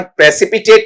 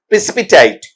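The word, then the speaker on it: precipitate: इसका उच्चारण प्रेसिपिटेट नहीं प्रेसिपिटेट।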